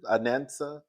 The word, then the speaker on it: Anansa: I think her first name is pronounced Anansa, and her last name is Sims.